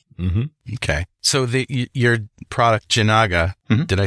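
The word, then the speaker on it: Jinaga: So your product, Janaga, did I say it right?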